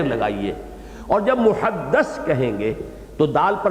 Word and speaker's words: محدث: کے ساتھ سمجھ لیجئے۔ محدث دال کے زیر کے ساتھ، وہ تو وہ علماء ہیں کہ جو علم حدیث کے ماہر ہیں، محدثین، فقہاء و محدثین، دال کی زیر لگائیے۔ اور جب محدث کہیں گے تو دال